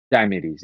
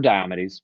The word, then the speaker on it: Diomedes: Diomedes, yeah, or Diomedes, but, Because we've had this before with Lilith and Lilith. I really don't care, about pronunciation.